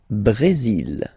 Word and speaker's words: Brésil: Le Brésil. Le Brésil. Okay, you will pronounce the final L here, and then remember, accent aigu goes like E.